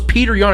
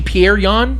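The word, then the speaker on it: Petr Yan: you don't weird thing I thought his name was Peter Young it's actually pierreon Pierre on so no it's not your fault I because it's spelled Peter okay here's here's the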